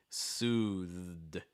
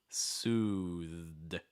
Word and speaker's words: soothed: the th sound clear it's a voice th so make sure you're getting vibration it's not suits hear that it's just the breath it's not that you need your throat to vibrate and again like